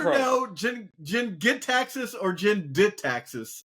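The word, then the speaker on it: Jin-Gitaxis: Jin Gitaxis or Jin Ditaxis? How do you say it? You get probe somebody, but it's Jin Gitaxis. Yeah. I get here's probe. the thing. Okay, I'll happily be wrong on the pronunciation because I'm objectively right on this card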